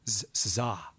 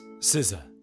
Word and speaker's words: SZA: Another standout for me from this was uh Zaza. You know what I didn't even look up is how to pronounce her name. How would you say it? Future Tony here. It's Siza.